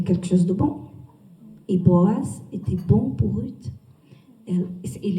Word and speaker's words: Boaz: C'est juste la prononciation Boaz, Boaz.